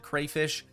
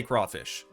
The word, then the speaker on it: crayfish: Some of you probably pronounce it crayfish. Personally, I say crawfish.